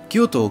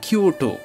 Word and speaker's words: Kyoto: শহর বলা হয় কিওকে কিও কিংবদন্তিতে ভরপুর ইংরেজিতে এর উচ্চারণ কিও কিন্তু জাপানি ভাষায় এর উচ্চারণ হবে কিও কেউ তোর এই জায়গাগুলোই